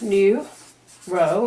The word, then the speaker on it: neuro: here we go zero it's pronounced new row of course and of